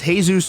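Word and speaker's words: Jesus: some lame-ass reason he calls himself Davi vanity pronounced sick but his real name is hey-zeus Torres former vocalist of some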